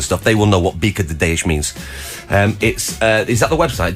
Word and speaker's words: Bica de Ideias: So, how would you pronounce that? It's Bica de Ideias.